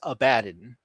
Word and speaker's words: Abaddon: He's Abaddon, and that's why the voice actors pronounce it that way, like Abaddon, like a bad guy.